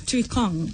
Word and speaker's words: Tuikong: Tuikong. Tuikong. Yeah. Like Not King tweet. Kong and then tweet.